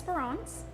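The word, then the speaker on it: Espérance: on hope by hope it's pronounced as firaon and that is French for hope I'm hope and I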